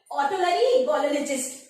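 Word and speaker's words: otolaryngologist: Doctor के पास जाएंगे, ऑटोलरिंगोलॉजिस्ट, ठीक है, इसका प्रोनाउंसिएशन यही होगा, यानी गले से संबंधित जो भी बीमारियां हैं आप इस डॉक्टर के पास जाएंगे, ठीक है।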